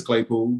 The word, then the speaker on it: Claypool: receiver I think Claypool uh I think it's Claypool that's how you say his name hey cool